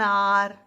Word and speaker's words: hour: An honor, an hour, an honest man. Here in these words, H is silent.